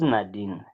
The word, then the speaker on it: Nadine: Your name ubiro de Nadine kana ngwana kana rationalize my umpolele gore ke No, no, you're saying it right, Nadine.